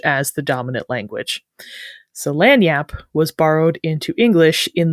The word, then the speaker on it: Lagniappe: And speaking of the spelling, early appearances of the word in English do often spell it that nya sound as an ny, just Lanyyape.